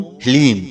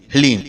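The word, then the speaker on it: ह्लीं: ओम ह्लीम। जी हाँ मित्रों, मंत्र को एक बार आप फिर से ध्यान से सुनिए। ओम ह्लीम। इसमें हा, ला और बड़ी ई की मात्रा और अंक की बिंदी। ह्लीम, यह है माता बगलामुखी का बीज मंत्र।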